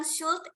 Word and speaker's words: should: Kemudian yang should, L-nya juga nggak usah dibaca.